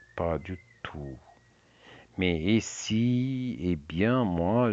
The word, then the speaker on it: pas du tout: Et si pas du tout, pas du tout sans prononciation de t pas du tout.